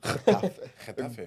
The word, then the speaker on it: Getafe: Getafe. Good Ooh.